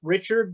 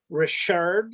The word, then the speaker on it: Richard: Now, the next is Richard, and lots of people pronounce it Richard, but it's actually Richard, like the hockey company, the hockey player.